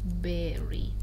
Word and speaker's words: bury: Хочется прочитать bury или как-то по-другому, или bury. Но, тем не менее, это слово читается bury. Buried. Почти как ягода.